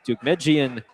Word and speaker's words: Deukmejian: The street where this ballpark is located, Dugmejian Drive. That is spelled Deukmejian Jian.